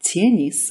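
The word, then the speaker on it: теннис: Even though words like these are spelled tenis with a soft t, they're pronounced tenis. The T is hard.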